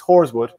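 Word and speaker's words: Horeswood: to you he's right it's horrorswood pronounced like the lady of the night I didn't think you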